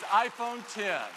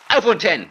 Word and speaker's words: iPhone X: Wie wird ausgesprochen? iPhone X, iPhone 10? Was ist es? Sagt's. Party erstmal ab. Is iPhone 10. iPhone 10.